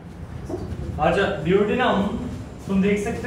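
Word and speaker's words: duodenum: अच्छा ड्यूओडेनम तुम देख सकते हो, ये रीजन जहां पे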